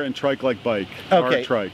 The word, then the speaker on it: Aartrijk: time but it's capital r and tri Bike R trike R trike that's how we pronounce it that's exactly right all right so